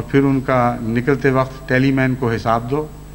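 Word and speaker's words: Tallyman: مین ٹیلی می بنانا، یہ ان کا تلفظ میں ہے، ٹیلی مین کو ٹیلمن کہہ کے پڑھتے تھے، کم مسٹر ٹیلی مین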